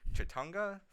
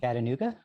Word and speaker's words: Chattanooga: Chatunga Film Festival. What's the other one you going to? I always say it wrong. Chattanooga?